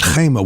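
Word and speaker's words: חמה: And the word for wall is choma, but if you take away the vowel, you can pronounce it chema, which means anger or hatred.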